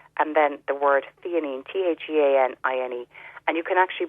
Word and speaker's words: L-theanine: It's spelled with a capital L and then the word theanine, Theanine.